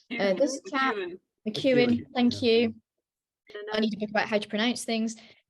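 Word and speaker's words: McKeown: Is it McCowan? This chap, McEwen. Thank you. I need a book about how to pronounce things.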